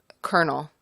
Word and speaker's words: colonel: good for you um kernel kernel I think that is spelled absolutely incorrectly you mean like the